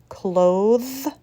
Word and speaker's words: cloth: versus bathe cloth versus clothes breath versus breathe the first word is voiceless bath cloth breath the second word is